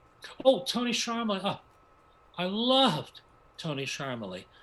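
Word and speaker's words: Charmoli: the director choreographer tony termuli oh tony sharma huh i loved tony sharma oh i totally pronounced that wrong i was like charmily yes normally tony learned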